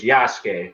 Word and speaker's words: Yasuke: samurai his name was yasuke you know sasuke from naruto yeah replace the s with the y that's how you say his name yeah oh i didn't